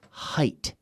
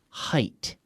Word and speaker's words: height: H II I ght like 8 the number 8 with an H in front of it right and of course we pronounce that 8 that H height height so it all repeat